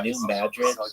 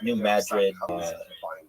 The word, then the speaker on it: New Madrid: It's New Madrid. Why are you calling it Madrid in Madrid? It's not pronounced like Madrid, like in Spain.